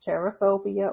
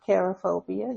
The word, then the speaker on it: cherophobia: So again, today's topic is cherophobia or cherophobia. You can pronounce it either way.